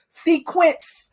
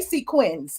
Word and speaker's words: sequins: boob fell out of her sequence sequence dress as marlo said um and speaking